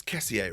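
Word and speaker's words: Kessié: It's Kessier, right? Not just Kessie. Or is everyone calling him Kessie? If so, I'll change my ways. But I'm pretty sure the proper pronunciation is Kessier.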